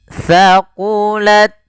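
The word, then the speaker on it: ثقلت: Kemudian thaqulat, thaqulat, ta-nya alirkan, tapi jangan banyak-banyak, jangan thaqulat, enggak, jangan banyak desisannya, sedikit aja hamas ya, alir nafasnya. Thaqulat, thaqulat.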